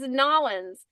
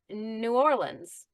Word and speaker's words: New Orleans: tourists or what, because no one here says Nolans. No one here says that. And they don't say New Orleans. And it's pronounced exactly the way you said it, Daniela. New Orleans.